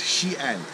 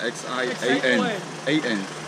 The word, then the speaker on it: Xi'an: It's Xi'an, but it's X-I-Z-A-N, right? Yeah, X-I-A-N. X-I-A-N. X-I-A-N. So it's pronounced Xi'an.